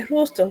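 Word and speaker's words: Rushton: Y también yo puedo ver los cuerpos de Ruston, que son esos cuerpos eosinófilos que se ven aquí en el interior de las células. Cuerpos de Ruston. Se escriben Rush, R-U-S-H-T-O-N, Ruston.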